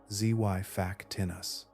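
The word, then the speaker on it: Xiphactinus: Among the swift hunters that patrolled the brightest waters was an immense bony fish named gifictinus, pronounced zy faktinus.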